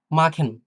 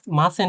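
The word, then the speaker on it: machen: হ্যা মাখেন অর্থ করা তো এই যে মাখেন এখানে তো মাসেন হচ্ছে না তাই না বা মাসেন হচ্ছে না এটা হচ্ছে মাখেন হ্যা মাখেন মাখেন মানে খ এর মত একেবারে মাখেন এরপর আসি কোেন কোকেন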